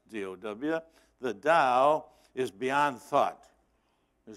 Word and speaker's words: Tao: the Zen Buddhist who says the da Tao pronounced dood the da is beyond thought you say where did you